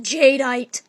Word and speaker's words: Jadeite: episode didn't you that and his name is pronounced jadeite cuz he's a Jade one